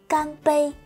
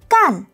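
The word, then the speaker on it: 干: là làm anh bạn Hán tự này có hai cách phát âm khi chúng ta phát âm là CN thành bốn nó có nghĩa là làm làm một việc gì đó Còn khi chúng ta phát âm là can thannh một thì nó có nghĩa là khô nhé cann thannh Bn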